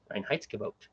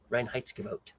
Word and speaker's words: Reinheitsgebot: Much less pronounce it. Reinheitsgebot. Say it with me. Reinheitsgebot.